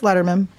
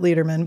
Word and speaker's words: Lederman: My dad's father pronounced it Lederman, but we don't like him. So my dad changes to Letterman, and we just say Letterman now.